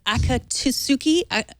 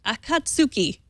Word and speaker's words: Akatsuki: after five long years the Japanese akatuki akatu Akatsuki how did I do Ian a that sounds better than my pronunciation to be quite Frank um